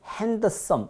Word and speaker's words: handsome: D자도 가끔 가다 묵음이 되는데요. 이런 경우에 hand하고 some이 만났으니까는 handsome.